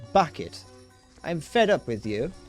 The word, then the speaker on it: Bucket: me for 36 years it's bucket okay hin it's bucket and I have it know that I would get a divorce from you H if you don't pronounce it bucket you D Ste sack